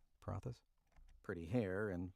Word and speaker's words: paratha: It says paratha paratha paratha.